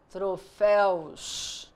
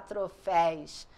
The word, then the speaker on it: troféus: só colocar o S troféu troféus não tem que falar troféis troféis não existe porque é u não é L chapéu chapéus ciência ciência